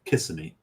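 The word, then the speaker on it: Kissimmee: we're in we're in Cassimi. Obviously, we're going to Disney World, right? And we're Okay. You may have you may have pronounced correctly, but it's kissing me.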